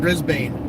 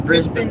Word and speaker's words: Brisbane: Sorry, it's not Brisbane. That's only what dumb Americans say. What's it Brisbane? Brisbane that I need to see.